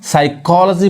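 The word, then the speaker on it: psychology: अब यानी कोई वर्ड है अगर एस के पहले पी आ रहा है तो पी साइलेंट होता है, पी नहीं पढ़ाता है। यानी अब इसको क्या कहेंगे, इसको हम साइकोलॉजी पढ़ेंगे, साइकोलॉजी।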